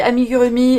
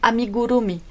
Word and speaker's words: amigurumi: faisait d'amigurumi puisque alors moi je dis amigurumi et je l'ai dit depuis 20 ans donc c'est vrai que voilà mais si on veut la vraie prononciation c'est amiguromi donc amiguromi et du Du coup